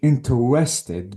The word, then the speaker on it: interested: About saying interested because the Swiss is not on R but it is on N letter.